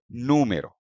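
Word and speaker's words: número: हैं न्यू मे row according to rule क्योंकि यह ओ पर एंड होता है जो कि एक वॉवेल है स्ट्रेस होना चाहिए इस वाले सिलेबल पर मे लेकिन नहीं जब आप इस वर्ड को सुनेंगे इसका प्रोनंसिएशन सुनेंगे तो इसका प्रोनंसिएशन आता है नो मेरो यानी कि एक्सेंट स्ट्रेस फर्स्ट लेवल पर है तो यह स्ट्रेस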